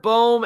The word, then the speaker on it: Bohm: You pronounce it Bohm, not Bomb.